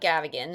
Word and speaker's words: Gavigan: So, my name is Minan Gavagan and I'm the founder of Minyan Gavagan.